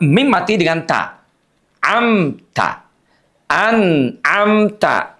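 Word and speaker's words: أنعمت: Anamta. Jangan sampai izharnya diputus bunyinya kayak sakta an amta.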